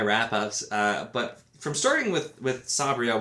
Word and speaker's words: Sabriel: but from starting with Sabriel, which I'm trying to pronounce because that is apparently how it's pronounced, but I've said Sabriel for 20 plus years probably, and so I'm trying to get it right.